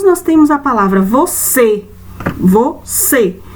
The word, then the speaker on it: você: Depois nós temos a palavra você, você. Então, você é um som fechado, mas é no vó ou no C? Qual é a palavrinha, a sílaba aí, que tá dando esse som mais fechado?